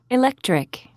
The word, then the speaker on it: electric: page 209 conversation exercise b one electric which one is stressed it's over the ec the second syllable electric it's over the